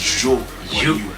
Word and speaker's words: Zhou Guanyu: He's Japanese, so the pronunciation is a little tricky, but I'm pretty sure it's Zhou Guanyu.